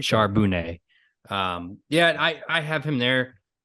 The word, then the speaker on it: Charbonnet: I know that's not how you pronounce his last name, but He is from a California school, so it's I like Charbonnet. like that. Charbonnet.